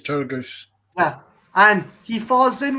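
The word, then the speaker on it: Turgoose: young boy played by is it thomas turn goose is that how you pronounce his name yeah sasha tur goose i think it's turtle goose yeah and he falls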